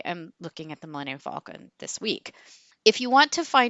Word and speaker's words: Falcon: I'm going to go with Falcon. It is spelled like Falcon, like the bird.